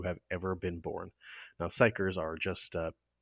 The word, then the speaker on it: psyker: is the immortal perpetual and psycher that's how you pronounce that p-s-y-k-e-r who serves as the